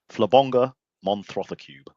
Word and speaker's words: Flabonga Monthro: Oh, how do you pronounce the name of the show? Flabonga Monthro.